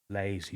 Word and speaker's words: Layzie: Lazy lazy. Lazy to rhyme with crazy cuz they you know